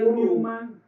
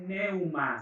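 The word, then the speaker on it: pneuma: la del griego es ni un más se pronuncia Newman pero es neuma se escribe pn e u m a hace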